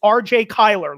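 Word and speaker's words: RJ Cyler: quick side note uh you pronounced his name correctly it is RJ Kyler look it up don't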